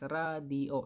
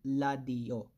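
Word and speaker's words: 라디오: So, yung example natin dito is radio. It's not ladio. Okay, radio.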